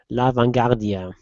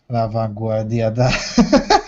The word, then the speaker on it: La Vanguardia: according to Catalan daily La Vanguardia. La Vanguardia. Yeah, sorry. French pronunciation there.